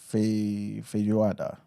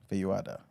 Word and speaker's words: Feijoada: They got something called feijoada. Feijoada, I believe it's pronounced.